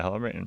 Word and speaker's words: Helen Mirren: That's who I had, Helen Mirren. Oh, nice. Yeah. Yeah. Oh, am I saying her name wrong? Yeah. Yeah, Helen Mirren.